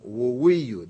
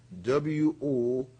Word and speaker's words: Woweiyu: We also had Tom Woweiyu, that's spelled W-O-W-E-I-Y-U, Tom Woweiyu.